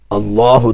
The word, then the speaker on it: اللہ: کریں۔ مثلا آپ یوں بولیں، جب بھی بولیں اللہ تبارک و تعالی، اللہ تبارک و تعالی، جب